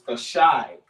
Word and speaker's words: Thashai: The word is Thashai. So you spell it T-H-A-S-H-I. Thashai.